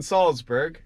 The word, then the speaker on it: Salzburg: We're in Salzburg and our tour starts like now.